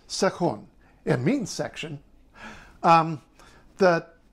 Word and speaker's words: Sektion: this is SE seun it looks like section but in Swedish it's seun it means section um